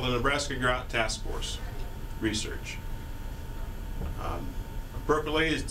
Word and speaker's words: Nebraska: the U.S so facts about Nebraska US locals pronounce it Nebraska not Nebraska not Nebraska but Nebraska it comes from an Otto Indian term meaning